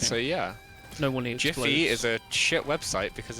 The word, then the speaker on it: GIF: It's also It's pronounced Jif.